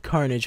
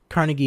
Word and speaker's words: Carnegie: live in front of carnage hall carnage my bad can't carnegie hall i believe that's how i say it right listen i live in